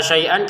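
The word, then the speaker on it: شيئا: Wala auladuhum minallahi sai kata syaian kita baca syai ya. Kenapa? Karena kita berhenti. Jadi ini syaian kita bacanya syiah dipanjangkan dua harakat.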